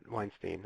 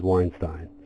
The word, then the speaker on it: Weinstein: There's another famous American Weinstein, but Weinstein. I don't know how he pronounces his. Howard pronounces his Weinstein.